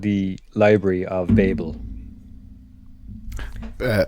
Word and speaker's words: Babel: called the library of Babel uh I I believe it's pronounced Babble no um it is